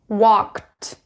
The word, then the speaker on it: walked: When you add ending ed here, so walk, so k is voiceless or unvoiced. That is why you would pronounce it with an unvoiced consonant, which is t, walked, walked.